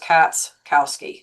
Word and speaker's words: Katschkow: Most people just say, but just so you know, when you look at my last name, the CH is silent. So it's really just Katschkowsky.